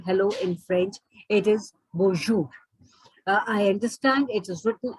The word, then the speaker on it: bonjour: the french language like the last letter is either not pronounced at all or it has got half a sound so bo bo means